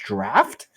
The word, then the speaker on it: draught: Apparently, draught, D-R-A-U-G-H-T is pronounced draft?